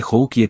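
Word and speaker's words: Cahokia: Incluso recordé que al pronunciar que Joukie tenía que poner el énfasis en la tercera sílaba en lugar de en la segunda, que es como no pronuncian los blancos, tienes razón, lo pronunciamos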